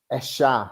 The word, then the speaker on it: ella: way she pronounces it and the way they pronounce it where she lives in Buenos Aires in Mhm. Argentina, they pronounce it like a sh sound.